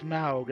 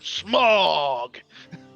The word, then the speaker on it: Smaug: you pronounce it, and somebody will say it's Smaug. I said no. When Benedict Cumberbatch plays it, you can call it Smaug. When Richard Boone voices him, it's fucking Smog.